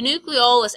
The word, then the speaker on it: nucleolus: thing is the nucleolus this one's a little confusing cuz it sounds like nucleus so make sure you say it right nucleo the nucleolus actually in an image